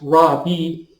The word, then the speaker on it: rabbi: ordained the word at the time would be pronounced raw B which means my teacher and that's what he